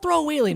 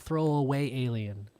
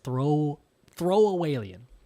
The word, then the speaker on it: Throawaylien: It's not throwaway alien, because we did do an episode about this before. But if you want to pronounce it right, I feel like it's Throawaylien.